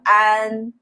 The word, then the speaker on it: 安: The first one is an, the second one is on, yeah. This sound, I know this sounds so similar, but we pronounce it differently, and they mean totally different things.